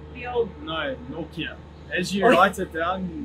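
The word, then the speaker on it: Nortje: I'm going to say Anrich Nokia. It's much better. I've heard a lot worse. Okay, the bar's pretty low for me. He's just Anrich Nokia. Yeah, Anrich, not Nokia like the old... No, Nokia.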